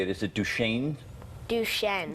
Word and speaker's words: Duchenne: Duchenne. Duchenne.